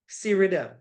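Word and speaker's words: SREDIM: a acronym for it it's called serm well so so people pronounce it right s r e d i m serm so it have a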